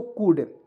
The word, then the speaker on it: could: चलिए यहाँ पे देखिए COU, यहाँ पे देखिए COULD, यहाँ पे एल का प्रयोग छूट गया है, ठीक है। तो इसे पढ़ेंगे दोस्तों कुड। क्या पढ़ेंगे दोस्तों, कुड पढ़ेंगे दोस्तों।